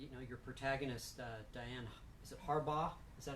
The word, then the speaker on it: Harbaugh: I understand that your protagonist, Diane, is it Harbaugh?